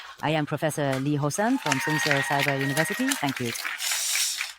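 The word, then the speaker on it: Lee Ho-seon: In advance, I am aware that my name is pronounced the same as subway line 2 in Korean. I am Professor Lee Hosan from Sun University.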